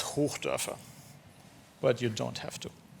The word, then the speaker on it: Hochdörfer: If you really want to try to pronounce my last name, it's Hochdörfer.